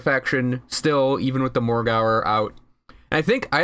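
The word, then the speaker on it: Morgawr: and it was actually something they said Morgauer, like the W is not actually pronounced in the name.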